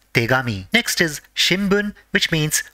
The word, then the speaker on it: tegami: When they are combined, it is pronounced as tegami.